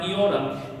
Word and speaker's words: iota: The way that I learned to pronounce it was the sound e. Okay. So, my my my professors uh told me to pronounce it like e like machine e.